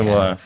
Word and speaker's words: memoar: Memoar. Ditulisnya memoir, dibacanya memoar.